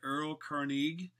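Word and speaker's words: Erlkönig: The German pronunciation is the Earl König, and it's basically about this this cruel and devilish type elf who would come and steal your soul.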